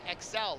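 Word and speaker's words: Exel: Last name Excel. like Excel spreadsheet.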